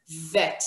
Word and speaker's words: Vet: When it doesn't have the dot in its belly, it's a softer version. It's V. All right. So we have B and we have Vet. This is how we pronounce Bet without the dot in the middle.